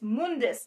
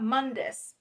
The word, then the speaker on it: Mundus: Um the just just a little nitpick, it's Mundus, not Mundis. They keep saying Mundus in the show, and I was just like, "No, it's Mundus. That's how it's pronounced in the games.